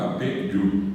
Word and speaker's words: Yapeyú: Que mal pronunciado decimos Yapeyú, pero en realidad viene de Apeyú, agua de superficie dorada.